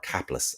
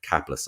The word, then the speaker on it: Caplice: months back mark uh mark caplice or capless as he would say up in whitlock mark caplis i should say it right and this is